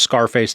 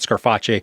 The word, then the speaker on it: Scarpetta: Also, I know that it's pronounced Scarface, not Scarfache, but come on, Scarfache is so much more fun to say.